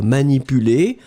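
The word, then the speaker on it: manipulée: Je ne veux pas être manipulé, masculine form, accent aigu, feminine form, accent aigu, D'accord? You pronounce them exactly the same way.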